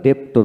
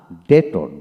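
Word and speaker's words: debtor: হিন তারপরে ডেটর ডেটর এখানে আমরা ডেপটর বলতাম না ডেটর ডেটর তারপর আসেন ডাউটেবল ডাউটেবল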